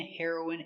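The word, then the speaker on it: heroine: Remember, heroin is the pronunciation for the drug and heroin is a female hero. Pronunciation? Her-o-ween. Her-o-ween.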